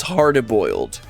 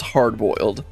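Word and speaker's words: hardy-boiled: Also, I realized I was pronouncing hardy boiled. It's hardy boiled instead of not just hard boiled.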